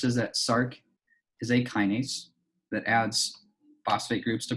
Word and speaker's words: kinase: we hopefully appreciate that a kinase so it's pronounced kinase is something that phosphorylates other things so shc